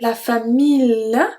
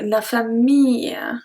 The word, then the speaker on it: famille: So we don't say la famille, we don't pronounce the L. Consider it as a long E, la famille.